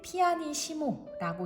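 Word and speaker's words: pianissimo: 피아노가 두 개 겹쳐져 있을 때는 피아니시모라고 읽고 매우 여리게 라는 뜻이죠.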